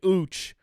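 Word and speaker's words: Uche: rusher Josh uch to a one-year deal it's pronounced uch we found a tweet from 20 he saying that's how his name is pronounced big ooch uh is coming to a one-year deal formerly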